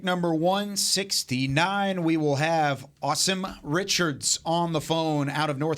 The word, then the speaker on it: Asim: Asim. Almost like awesome. Awesome, but Asim.